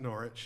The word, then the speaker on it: Norwich: It's spelled Norwich, but they pronounce it Norwich, and it's where that they make that Coles mustard.